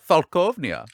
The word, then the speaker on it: Falkovnia: Cue the zombies, Also, I believe it's pronounced Falkovnia.